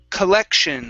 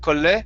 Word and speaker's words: collection: to collection okay so working on the l instead of cole cole okay push the tongue forward collect so with that o we're going to say k instead of ko okay the tongue is going to go forward collection collection collection there you